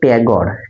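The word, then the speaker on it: Tagore: এটা উচ্চারণ কিন্তু ট্যাগর। একটা কথা মনে রাখো আমরা বাঙালিরা কিন্তু ঠাকুর বলি। কিন্তু আমাদের দেশে যারা ইংরেজ এসছিল ইংরেজরা এই ঠাকুরকে টেগর বানিয়ে দিয়েছে। তাই ওই কারণে ইংরেজিতে টেগরই বলা হয়।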